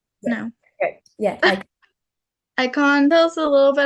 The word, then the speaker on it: Icahn: And you were also involved in research at, I'm probably going to pronounce this wrong, the Icahn? Yeah. No. Okay. Yeah. Icahn.